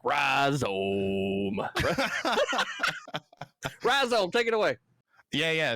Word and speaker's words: Rhyzohm: Rhizome is how I say it. Rhizome, you know. Rhizome. I accept rhizome as an accurate pronunciation. That is see, the like second. when I see it, I think ohm. You know, like from electricity, right?